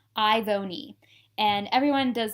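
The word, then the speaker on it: Ivone: And it's literally spelled like you say all the vowels and you make the sounds of the consonants. Ivoni. And everyone does like Yvonne or Ivan or Ivoni.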